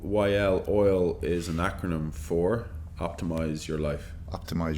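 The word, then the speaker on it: Oyl: multiple iterations yeah uh oil like it's oil there's oil in coffee um so it's spelled o y l um you know we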